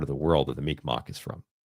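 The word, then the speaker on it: Mi'kmaq: the world that the Mikmach is from. The Mikmach or Migma perhaps it's pronounced Migma. Um are an indigenous group of people of the northeastern woodlands.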